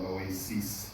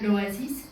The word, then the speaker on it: L'Oasis: Orson had a favorite restaurant outside of Cannes called Oasis. Oasis, I don't know how to pronounce it. Louis. No. Oasis. Oasis. Oasis in English. Oasis. Look with a L. Clara, l'Oasis. L'Oasis. So it's very L'Oasis.